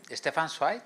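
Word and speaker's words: Stefan Zweig: Cuando Stepan Swi, se pronuncia así, tiene un libro que se llama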